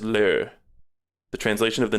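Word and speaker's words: 乐: There's le with like an e over it, or with a little thing over the e, meaning joy, and approximately pronounced as le.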